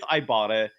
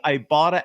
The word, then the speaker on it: Ibotta: can earn cash back with Ibotta on every shopping trip.